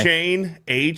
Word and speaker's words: Etienne: Apparently, we've been pronouncing his name wrong. He goes to New Orleans, where careers go to die. A-Chain.